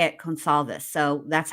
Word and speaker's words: Goncalves: The reason I can't say it is because I want to pronounce it concalves. Gonalves, but it's gonal if they say it consolves.